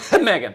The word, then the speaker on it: Meghan: It's Megan with an H. It's pronounced Megan. Meghan.